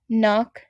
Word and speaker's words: knock: We have knapsack, knock, no. All of these letters begin with K and N. And because K and N are in the beginning of the word, the K is silent.